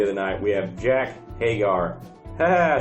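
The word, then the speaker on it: Jake Hager: Match number 3 of the night, we have Jack Hagar.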